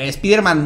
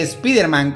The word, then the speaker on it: Spider-Man: Aunque lo normal hoy es que Spider-Man conserve su pronombre original en inglés, es decir, Spider-Man, en España se pronuncia Spider-Man, de acuerdo a la escritura del español, porque esta era la pauta seguida con los nombres extranjeros cuando este personaje apareció.